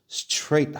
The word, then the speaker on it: straight: 자, GH는 장식이야. GH는 장식이니까 발음해야 하네요? 안 해요.